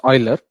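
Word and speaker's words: Euler: Similarly uh e do we all know the constant e in mathematics anyone have you heard of oiler constant it's pronounced oiler but the spelling is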